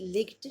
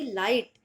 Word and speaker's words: light: LIGHT, लिग्ट नहीं, इसको हम बोलेंगे लाइट।